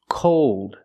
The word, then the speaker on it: cold: Old, cold, told, fold. Here we're using a long O sound, but it changes because of the dark L.